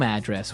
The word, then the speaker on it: address: So different from your home address where you live. Yeah. And there the stress is on the first syllable.